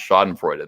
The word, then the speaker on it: schadenfreude: Saturday morning schadenfreude 'ah the Germans in my audience liked the way I pronounce schadenfreude they say I pronounced it wrong but with my Jersey accent it sounds sexy to their German ears that's great I don't